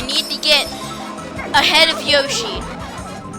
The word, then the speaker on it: Yoshi: to get ahead of yoshi or yashi as some people pronounce it but they're wrong okay okay the third